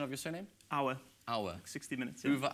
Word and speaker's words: Auer: Pronunciation of your surname? Auer.